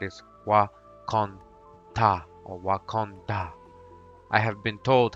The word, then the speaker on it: Wakanda: of the asaji News the Marvel spelling is different but the pronunciation is the same I have not yet